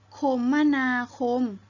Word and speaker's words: คมนาคม: ได้ 2 แบบ นะ คะ ทาง คมนาคม หรือ คมมนาคม จะ หมาย ถึง การ ติด ต่อ ไป มา